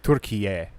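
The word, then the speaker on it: Türkiye: Much like Turkey is not Turkey or you know Turkey in Turkey. Yeah. in Turkish. It's like Turkiye. There's more syllables and stuff.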